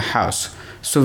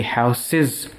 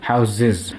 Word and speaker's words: houses: house house house but when you convert it into a plural form to represent more than one houses you're going to pronounce this as houses with a z sound you will pronounce this word with a z sound it won't be how cis it will be how's this so this is a